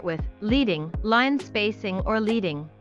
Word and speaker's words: leading: Line spacing or leading, which rhymes with heading, is the space between two lines of text.